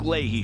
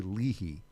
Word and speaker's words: Leahy: It's the Michael Patrick Leahy Show, broadcasting live from downtown Nashville.